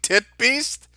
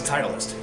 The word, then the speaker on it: Titleist: here you dirty double stalking tit beast i know what you're up to i know what you're doing what are you talking about that says titleist oh i'm i'm just i'm sorry i'm sorry